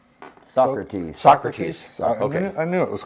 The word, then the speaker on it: Socrates: srat how do you say his name srats srats is that right Socrates Socrates I knew it was close is sentenced